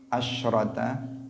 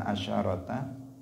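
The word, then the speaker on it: عشرة: Nabi, man shallat thnatai asyrata bukan asyarata, karena itu yang dalam riwayat ya. Kalau dalam bahasa Arab bisa asyarata, bisa asyrata. Tetapi untuk di sini kita membacanya asyrata.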